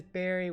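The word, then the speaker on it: Beary: But yeah, Barry. See Barry. See like Barry. Barry. But this is it's spelled differently. This is berry with a B-E-A-R-Y. They are berry like a strawberry.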